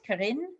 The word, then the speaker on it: Kerin: Am I pronouncing this right? Kerin?